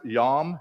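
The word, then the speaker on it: ים: And it's pronounced yam.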